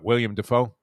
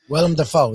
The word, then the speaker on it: Willem Dafoe: But, yeah, I guess that would be, William Defoe? Willem Dafoe, yeah.